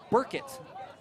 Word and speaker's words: Burkett: It is Langston Burkett. I even wrote the pronunciation myself on my guide.